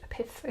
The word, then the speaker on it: Pith: Pith. Pronounce that one carefully.